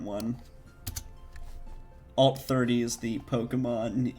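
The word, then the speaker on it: Pokémon: I just know that the Pokemon E is like... I'm pretty sure you're always supposed to pronounce it A. Pokemon. Because it's A in Pokemon and, like, Beyonce. So...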